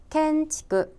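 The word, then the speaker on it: 建築: 발음 은 " 켄치쿠 " 입니다 .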